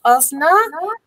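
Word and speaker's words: Öznur: So everybody pronounces my name as Oznur, but it's not actually Oznur, it's Oznur.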